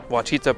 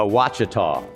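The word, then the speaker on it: Ouachita: parish cheetah parish alchita wichita maybe it's wichita wachita parish a wachita parish a wachita parish turban parish terrebonne terrabone parish tarabani terrebonne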